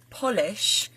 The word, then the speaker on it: Polish: So number 4 on that list is we must polish the Polish furniture. So polish of to clean, and then Polish as in the nationality. I also both spelt the same but pronounced in different ways.